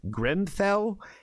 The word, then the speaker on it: Grimfel: I believe the pronunciation is Grimfel, and the song is called Against Us.